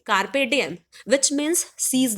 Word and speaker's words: carpe diem: कार्पे डाइम नहीं, कार्पे डिएम, which means seize the